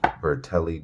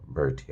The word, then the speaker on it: Giordano Berti: giordano verti uh yeah giordano bertie i knew i butchered that the first time i said it but yeah it's number